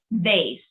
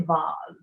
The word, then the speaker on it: vase: just to blend buzz vase although if you're american and you have a very very expensive vase you will call it a voz just to be more posh yeah versatile via via